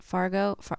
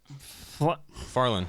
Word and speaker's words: Farlan: How do you say it? Fargo? No. Farlan. Farlan. That's right. I said Fargo, which was wrong.